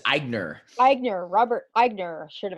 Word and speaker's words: Aigner: Did I pronounce that right? It's Aigner.